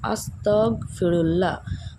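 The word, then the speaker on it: أستغفر الله: সেই ইস্তেগফারটা হলো আস্তাগফিরুল্লাহ গ উচ্চারণ কিন্তু কনা আস্তাগফিরুল্লাহ আস্তাগফিরুল্লাহ আস্তাগফিরুল্লাহ এটা হচ্ছে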